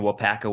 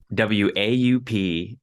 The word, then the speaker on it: Waupaca: I grew up on a dairy farm in Waupaca Wisconsin a sprawling Metropolis of 6 000 people